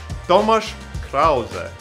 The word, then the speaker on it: Tomasz Krause: And I'm here to say that Tommy Craze's name is actually pronounced as Tomasz Krause, and that he was born in the city of Bydgoszcz, which is located in Poland, Eastern Europe.